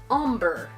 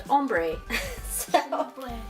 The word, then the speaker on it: ombré: so what's funny is I have always said that word OMB are e as ombre that's how I've always pronounced it I never pronounced it ombre because I'm from Southern California so I think of the Spanish word ombre which means man it always confuses me so I always pronounced it ombre but apparently it's pronounced hombre so do you guys